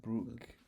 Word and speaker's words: Brooke: Stefan and Brooke. I let me check out. Plus this one. Pronounce names. The American pronunciation is Brook.